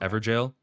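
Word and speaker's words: Evergaol: Ever jail. In it is pronounced Everjale, another of the Golden Lineage, who like Godric must have felt too weak for his illustrious line.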